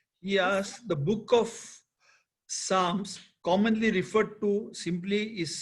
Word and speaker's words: Psalm: He said, Bhal Srikhande, he asked, the book of Psalms, commonly referred to simply is Psalms, and it